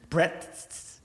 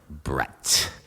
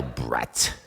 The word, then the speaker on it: Brett: only person who ever pronounced my name with five t's at the end breaths no brett ah well brett like it was cutting